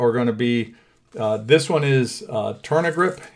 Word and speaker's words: Tourna: So the overgrips that we're going to put on, that we're going to look at, are going to be this one is Turna grip.